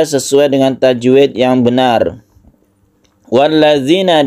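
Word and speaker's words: وَالَّذِينَ: dengan tajwid yang benar walladzina di sini ada dzal yang ada titiknya bedakan dengan dalil yang biasa ini harus kita latih kemudian sukun ya ini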